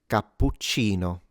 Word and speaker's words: cappuccino: Anyways, this is pronounced cappuccino.